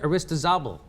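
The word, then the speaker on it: Aristizábal: activism and transformation co-authored with Colombian Exile Hector Arista zabel did I say it right you got you're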